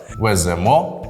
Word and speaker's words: веземо: Так ти майже потрапив веземо Ідемо дієслова із закінченням емо імо і то наголошується остання частина я запам'ятав дієслова з